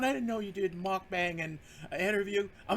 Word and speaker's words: mukbang: watched some of those mukbang channels, mukbang, it's mukbang, right?